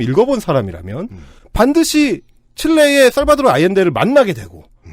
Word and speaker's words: 아옌데: 자꾸 발음을 하게 되니까 아이엔데를 야웬데라고 발음을 할 리가 없는데 몇 번 접해보지 않았기 때문에 보고 읽어도 못 읽는 거죠, 보통.